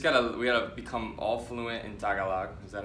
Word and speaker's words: Tagalog: So we just gotta become all fluent in Tagalog. Is that how you say it? Yeah, Tagalog.